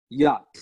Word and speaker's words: yacht: you see act but in English it's yacht yacht yet yes so you just it is like you're saying it's like you're pronouncing it with Y a and T yacht without the cr.hp for